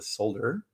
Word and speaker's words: solder: I was doing all sorts of things that I love doing, including teaching how to solder. That's how they pronounce it in Europe. There's an L in it.